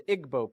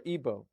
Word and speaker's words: Igbo: in Africa you have the Igbo people or Igbo pronounced either way there's 40 million of